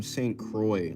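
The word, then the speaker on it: St. Croix: Know where from St. Croy? like it's spelled it's like how you spell Lacroy like the bear um St.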